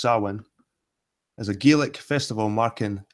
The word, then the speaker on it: Samhain: look at Halloween or soin because it came from this Celtic Festival sulwon pronounced saman as a Gillick festival